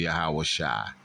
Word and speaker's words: Yahawashi: is salvation Joshua so if you pronounce it the correct way it's actually yahawashi okay the son of